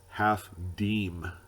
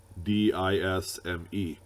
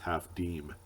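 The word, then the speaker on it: half disme: you wondering it's pronounced half deem d i s m e it's like a dime with an s in the middle of it some people would say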